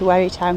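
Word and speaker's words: Wherrytown: where we town beach I think that's how you pronounce it it's w-h-e double r y t o w n some really nice Gardens alongside wary town beach as well foreign that's where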